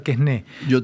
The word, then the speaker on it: Quesnay: a los fisiócratas y a Quesnay, no sé, se debe pronunciar Quesné, pero habla de los fisiócratas.